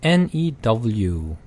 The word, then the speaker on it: new: true true 그다음에 new 발음은 new라고 해서 y 발음을 섞어서 해도 되고요. 그냥 new라고 해도 됩니다.